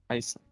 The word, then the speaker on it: Isaac: sí, como dirían los ingleses, pronuncia Isaac.